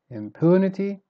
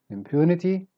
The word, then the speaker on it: impunity: endow start weak then become strong endow fend impunity stress in the middle similar to word number eight and nine impunity mean one syllable pertinent